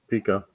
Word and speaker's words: Pico: Pico.